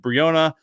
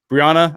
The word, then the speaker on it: Brianna: anthony holder joshua beckham briona brianna i should say i'm sorry brianna i